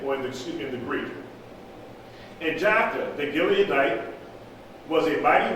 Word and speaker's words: Jephthah: It said Jephthah, Gilead begat Jephthah. Jephth. Is that right? How do you spell it?